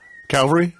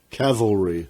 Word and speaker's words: cavalry: a horse a jockey Calvary Calvary no wrong cavalry cavalry ca va el ROI cavalry Natalie not like Calvary and I would say